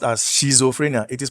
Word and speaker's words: schizophrenia: Now, so the monoamines are implicated in depression, schizophrenia. This is not pronounced as schizophrenia. It is pronounced as schizophrenia, all right? Then we have, there's a T before you pronounce the Z.